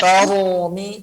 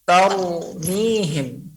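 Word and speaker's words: ترميهم: Tarumi. Tapi yang betul adalah tarumihim. Sedikit saja. Getarannya satu.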